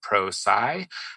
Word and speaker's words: Prosci: struggle to pronounce uh it actually comes from a contraction of the words professional and science okay so professional and science pulled together gives you pro sci uh but we do